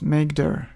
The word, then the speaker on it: mkdir: Linux we use mkdir command which is usually pronounced as mcder so we type maker then folder name enter and here's a new